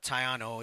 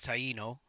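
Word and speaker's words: Taíno: together all right uh it's not tayano it's Taino my man ain't saying it correctly in case anybody gets confused like what's a tayano more people are more familiar with the traditional pronunciation of Taino okay uh he's going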